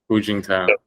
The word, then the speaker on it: Hu Jintao: Hu Jintao.